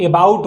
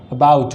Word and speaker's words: about: उसके बाद जो लास्ट वर्ड है उसका जो उच्चारण है, इसको लोग एबाउट बोलते हैं, एबाउट नहीं होता है, क्या होता है, अबाउट होता है, क्या होता है, अबाउट होता है।